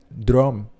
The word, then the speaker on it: droom: Es justamente un investigador holandés, Frederik Van Heijden, quien introduce el concepto de lucid droom. Disculpen la pronunciación, pero es DROOM.